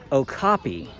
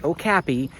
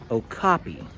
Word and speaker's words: okapi: We're both wrong. It's okapi, not okapi and not okapi. Okapi.